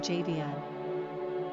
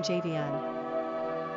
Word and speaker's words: Javion: Quick Facts ON JAVION GENDER: Boy ORIGIN: African-American NUMBER OF SYLLABLES: 3 RANKING POPULARITY: 817 PRONUNCIATION: JAY-vee-un SIMPLE MEANING: Greek Characteristics